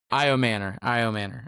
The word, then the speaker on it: Puka Nacua: Io Manor is how you say Yeah.